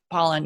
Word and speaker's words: Pollan: kind of by that Michael Pollan it's Apollinaire Poland I was gonna say his name wrong but Pollan yeah from the food Food Rules you know